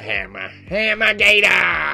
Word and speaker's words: Hammah Gatah: Hammah Gatah!